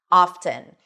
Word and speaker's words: often: However, at some point in the word often, the t started to come back often. And the t is actually pronounced something that we don't see in fasten or listen, right?